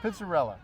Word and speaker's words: Pizzarella: Pizzarella.